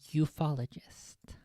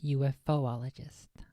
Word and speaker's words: ufologist: in 20 I believe the proper pronunciation is ufologist not UFO ologist I would I would